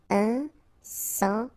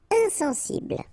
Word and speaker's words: insensible: Okay, final not pronounced. Insensible. Insensible.